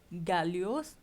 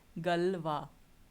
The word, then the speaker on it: Galois: Now, how do you pronounce this? This is not Galios, but it is Galois, right?